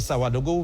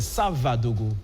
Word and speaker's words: Savadogo: Parce que là, quand j'avais dit Savadogo, vous m'avez tout de suite repris, c'est Savadogo, plus précisément.